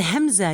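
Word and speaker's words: همزة: While you pronounce the Hamza, you have to stress on the place of the Hamza. You have to press strongly.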